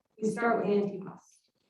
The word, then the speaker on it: antipasto: You see, in my family, we don't start a meal with antipasto. We start with antipasto. We never pronounce the O.